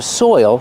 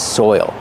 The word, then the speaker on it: soil: But this is soil. Pronunciation. Soil. You have the oi sound followed by the dark L.